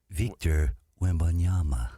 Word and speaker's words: Wembanyama: That was French-ish. It had a little bit of a French flair to it. Victor Wembanyama.